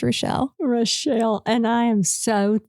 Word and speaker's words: Rashel: She still doesn't know how to pronounce my name properly. So Rochelle, I'll answer to Rochelle, Rachel, but yes, my name's Rochelle.